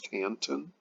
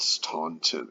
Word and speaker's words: Staunton: I am mistaken but I think it's pronounced Stanton and not Staunton it is way like in